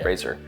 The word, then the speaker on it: Fraser: Fraser. Rhymes with laser, blazer.